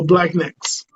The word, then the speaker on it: Blaqenex: So collectively, they're known as the Black Necks. Okay. Is it Black and Next or Black Next? Because I always get that Black. mixed up. Yeah, Black. So it's spelled differently, BLAQENEX. So Black Necks.